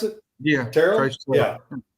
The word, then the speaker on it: Terrell: Terrell? Yeah. Terrell. Yeah. Listen, you can say that a couple of different ways, but his name is Terrell.